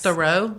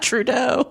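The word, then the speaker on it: Theroux: may be because yes thorough how you say it thorough thorough thorough not Trudeau no it's thorough I do believe okay we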